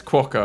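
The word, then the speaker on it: quokka: normally am but yeah it's not quo it's quaka apparently so thank you to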